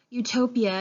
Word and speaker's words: utopia: let's break it down utopia is pronounced with the y oo instead of the soft po it's a hard oh so it's the yuh sound and not the UH so it's you and then any time